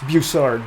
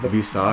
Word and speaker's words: Bussard: Speaking of busy, last week, first of all, our guest today is Bussard. Did I pronounce that right? Close enough. It's Bussard. Bussard. But that's okay. Is that like... It's French.